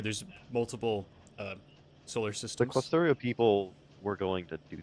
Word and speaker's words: Clusterio: If you've ever heard of Clustertorio, it's a cool server What? tool that lets you That's not what it's called. Clustorio. What's it called? Close. It's Clusterio. Clusterio. It's spelled Torio. Like cluster IO.